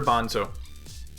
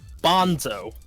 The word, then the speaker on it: Banzo: okay it's his half-sister Bonzo Bonzo yes can you spell it be ANZ oh I was close as in garbanzo right as in the titles